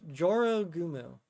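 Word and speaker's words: 女郎蜘蛛: Um, and it's specifically pronounced Joro Gumu.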